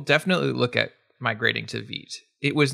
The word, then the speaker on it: Vite: And yes, Vite, pronounced Vite, it's from French, I believe means fast. And it is. Yes, Vite rhymes with sweet is my way of remembering it. Nick Nisi says Vite rhymes with feet.